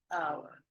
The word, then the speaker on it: hour: Entonces, no pronuncia como una H, no suena como una H, es an hour.